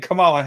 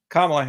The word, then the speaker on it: Kamala: than well certainly then Kamala Harris has uh oh my goodness I mispronounced her name good Heavens Kamala Harris um and uh you